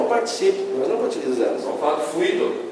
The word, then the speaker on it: fluido: suas províncias tá tudo tá é fluido pronuncia-se confirma verbal 18 melo cuidado com força no